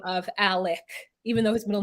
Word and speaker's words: Alex: The Murdaugh family, we think that, okay, Alex, his name is Alex, but he says Alec.